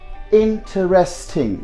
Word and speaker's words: interesting: is going to be you see that in turn you just get this e off and you get the right pronunciation that should be any trustee so from t2 right away you glide on to R so that should be sounding interesting you know he is